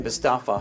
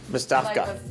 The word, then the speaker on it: Bestavka: As Captain Bestafa highlighted, financial... Bestavka, you pronounced his name. What did I say? Bestaf, you forgot the K. Bestavka.